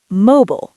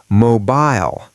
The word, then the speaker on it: mobile: America, mobile, rhymes with global, mobile. UK, mobile, rhymes with smile, mobile.